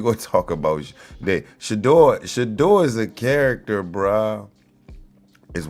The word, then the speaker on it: Shedeur: You probably gotta say it like you're a Frenchman. Shedeur.